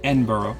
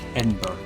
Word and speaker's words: Edinburgh: how they spell it, it looks like Edinburgh. It does to our American. But it's not. It's Yes. Edinburgh. Edinburgh. Edinburgh. They say it really fast and low.